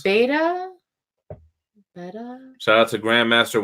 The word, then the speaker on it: Beta: Beta or beta? Beta, like the Greek letter.